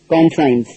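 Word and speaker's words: conscience: அது கான் சயின்ஸ் உச்சரிக்கணும் இத என்ன மீனிங் மனசாட்சி. ப்ரனவுன்சிேஷன் என்ன? கான்சைன்ஸ்.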